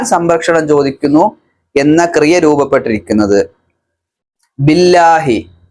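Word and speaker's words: بِاللّٰهِ: ചോദിക്കുന്നു എന്ന ക്രിയ രൂപപ്പെട്ടിരിക്കുന്നത് ബില്ലാഹി ബി കൊണ്ട് അള്ളാ പ് അങ്ങനെ ചേർത്ത് പറയുമ്പോൾ ബില്ലാഹി കിസർ വന്നു കഴിഞ്ഞാൽ ല എന്ന ഉച്ചാരണമാണ് നമ്മൾ ബിസ്മില്ലാഹി ബിസ്മില്ലാഹി എന്ന് നമ്മൾ പറയില്ല ബിസ്മില്ലാഹി അതുകൊണ്ടാണ് അള്ളാ പ്ലസ് ബി ബില്ല ആ ഉച്ചാരണത്തിലേക്ക് വരുന്നത് നമ്മൾ ചെറുപ്പത്ത മദ്രസിലൊക്കെ പഠിച്ചിട്ടുള്ളതാണ്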